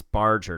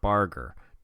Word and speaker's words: Barger: guys were like dude it's Barger not Barger dude it's Jimmy not